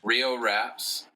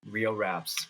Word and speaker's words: Rio Raps: Rio Raps. Rio Raps. Yeah. Riordan Tales. Oh shit! You shouldn't have told me your name, man. One at a time, Rio bro. Raps. One at a time. Rio Raps.